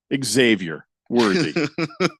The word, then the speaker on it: Xavier Worthy: So much so, I vow to always pronounce his name correctly. Xavier Worthy.